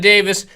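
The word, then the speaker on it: Davies: She told me it's pronounced Davis. Fionn Davis versus Natalie Hibero, who's number 1 vet.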